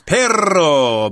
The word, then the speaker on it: perro: called ton ton okay when you have two RS in espanol you need to roll those RS I like a dog the word for dog in Spanish is perro but a lot of